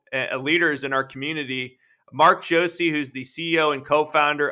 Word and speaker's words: Josey: And Mark, just so I'm clear, your last name I pronounced Josey, correct? Yes, sir. Okay.